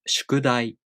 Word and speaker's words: 宿題: For example, the word 宿題. This word has 4 moras and takes 4 beats to pronounce.